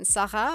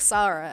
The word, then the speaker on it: Sarah: she was but um her name is spelled Sarah but it was pronounced in French I can't do the pronunciation Saha I guess so when you take that into like not a French accent it's more like Sara I guess which is why my parents call me Sara and they yeah I